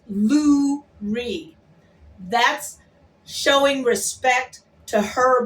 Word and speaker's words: Lurie: It's Lurie Favors. Lurie Favors. Not Laurie. Not Lori. It's Lurie.